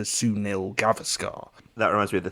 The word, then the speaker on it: Sunil Gavaskar: she mispronounces it, or she puts the stress in the wrong place, so she says Sunil Gavaskar, and then Lee Mack corrects her to Sunil Gavaskar.